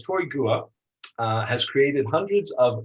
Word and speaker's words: Gua: pronounce is it's pronounced Gua like guacamole minus the cimi it's one syllable instead of Gua it's